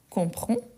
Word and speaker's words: comprends: Je comprends. Je comprends. N'oubliez pas, hein, je comprends avec DS, je ne le prononce pas.